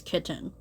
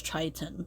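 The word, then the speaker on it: chitin: soil another structural polysaccharide is kittin use or Triton I think it's Triton yeah I've been saying it wrong I I think Triton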